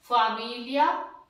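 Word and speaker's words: famiglia: ठीक है, तीनों के बाद में ले बन गया, जीएल के बाद में ई आ गया तो उसका उच्चारण ले बन जाता है।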